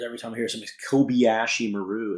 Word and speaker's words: Kobayashi Maru: way that they pronounced Kobayashi Maru is so bad. If you've ever spoken Spanish or German or other languages where the vowels always maintain the same sound regardless of their position in a word, why is it that